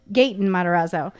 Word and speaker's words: Gaten Matarazzo: Gaten Matarazzo.